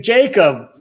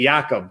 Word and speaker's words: Jakob: Jacob, wow. Actually, I should say Jakob, because that's really the way I should pronounce it when I'm talking more like the way they do in Sweden.